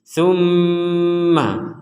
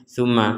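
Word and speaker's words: ثُمَّ: sudah sempurna tumma tumma kalau dengungan belum sempurna jangan bilang ma contohnya tma tma tma itu enggak ada itu enggak ada dengung tummaumma itu harus ada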